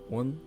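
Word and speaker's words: 원: Again, you can see the Korean and Chinese characters represented here, pronounced won and yuan, of course, translating directly to circle.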